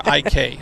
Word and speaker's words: Arik: A-R-I-K. That's how he spells his name. A-R-I-k. So how do I pronounce it?